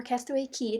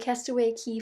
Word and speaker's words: Castaway Cay: the Castaway Cay or castaway key depends you can pronounce our you want it spelled K it's pronounced key for the most part I don't know but castaway key 5 K so it